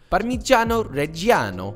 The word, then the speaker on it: parmigiano reggiano: grams of parmesan cheese now hear me out parmigiano reggiano is the best option like that pronunciation by the way italians can we get